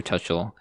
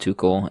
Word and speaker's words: Tuchel: hopefully the new manager tuchel will guide us in the future okay so it turns out i butchered that name it's pronounced tukel and um i really